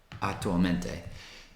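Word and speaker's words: attualmente: i'm living in canada atulmente vivo in canada so atomente is how you say currently in this moment not querentamente or anything like that it's highly likely you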